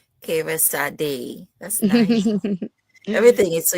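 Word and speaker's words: Kyreesade: It's pronounced Kira Sad. Kira Sad.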